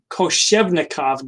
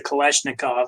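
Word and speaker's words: Koschevnikov: workers is the kush koshevnikov gland i almost mispronounced that i always say kalashnikov but i know that's not right so this is found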